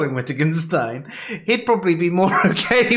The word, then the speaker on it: Wittgenstein: I'd just like to say, not Wittgenstein, as how I used to pronounce his name before I heard anyone else say it.